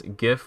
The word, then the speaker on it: GIF: Now you can go forth freely and pronounce GIF with a hard G as you naturally would, because you have every right to do so.